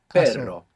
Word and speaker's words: perro: So initial R or two R's together inside the word is going to pronounce this double R. So the word for but in Spanish is pero. Pero. P-E-R-O. And the word for dog is perro.